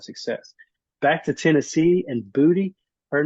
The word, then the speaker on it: Boutte: Her last name is spelled Beautae, and it's pronounced Booty. Didn't you just spell beauty?